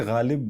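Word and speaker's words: ग़ालिब: और आपने जैसे गालिब बोला अभी, he'd be proud. Lot of people have forgotten to pronounce it right. नुक्ता.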